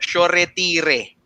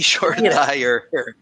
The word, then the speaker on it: Shoretire: By the way, just it's pronounced Shoretire. So, hindi sure tire.